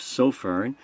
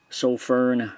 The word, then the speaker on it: Sofirn: by the name of so fern I'm gonna pronounce it like that since I've not heard anybody else pronounce it they might pronounce